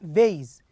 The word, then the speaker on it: vase: the vase we say vase why because there is an e at the end also the same with